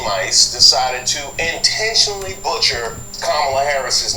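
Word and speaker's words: Kamala: do you pronounce it first you say comma like a comma in a sentence Dan you say la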